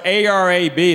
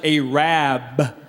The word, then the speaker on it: Arab: who's mine in the store how about arab it's spelled a-r-a-b they don't pronounce it arab they pronounce it a rabb because the original name was a rad but